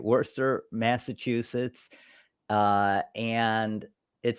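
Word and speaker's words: Worcester: at number eight is you know how to pronounce that Worster Worster that's right Worster Massachusetts uh and it says con Massachusetts Connecticut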